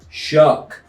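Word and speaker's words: Shough: Tyler Tyler Shuck posted and said it's pronounced Shuck.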